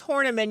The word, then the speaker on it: Horneman: is that canadian no and my last name's hornaman you spell it like a is horny man's my